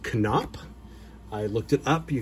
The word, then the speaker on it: Knoop: collection is Bobby canop and yes it is pronounced canop I looked it up you can find a video of him being elected into the um Angels Hall of Fame and the address announcer says can up it's also on baseball reference and but I've